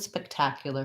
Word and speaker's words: spectacular: so let's look at spectacular first we have second syllable stress here as well spectacular so i think in this first syllable i could either use an f speck like a speck of dust or it's like i